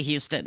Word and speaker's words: Houston: We also have a street in New York called Houston. It's spelled Houston. Yes. But you do not say Houston. It's Houston.